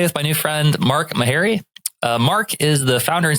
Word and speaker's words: Meharry: Am I pronouncing your name correctly? Is it Mark Meharry?